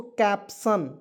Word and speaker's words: caption: चलिए यहाँ आप देखेंगे CAPTION, क्या पढ़ेंगे दोस्तों, कैप्शन। CAP, तो इसका उच्चारण हो जाएगा कैप, P से प लिखेंगे, TION को सन पढ़ेंगे, कैप्शन। कैप्शन मीन्स क्या होता है, कैप्शन ही होता है।